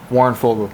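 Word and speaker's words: Warren Foegele: Warren Fogle.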